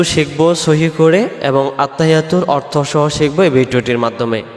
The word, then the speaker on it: আত্তাহিয়্যাতু: এই শব্দটাতে আমরা কি ভুল করে ফেলি আমরাদের উচ্চারণে আত্তাহিয়াতু আত্তাহিয়াতু আত্তাহিয়াতু হা জের হি ইয়ার পরে তাসজিদ আসছে